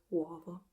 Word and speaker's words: uovo: The accent in this word goes on these are three vowels and one consonant, and the accent goes on the second vowel, the o. And I think most of Italy pronounce it uovo with the open o, but I find it charming that in the south of Italy they tend to pronounce it with a closed o.